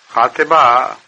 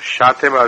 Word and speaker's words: خاطبہ: خاطبہ کا ایک تلفظ شاطبہ بھی ہے اور یہ معین طور پر نہیں کہا جا سکتا کہ کون سا تلفظ درست ہے.